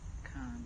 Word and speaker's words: Khan: And Monday, Khan. Is that how you say his name? Yeah, Khan.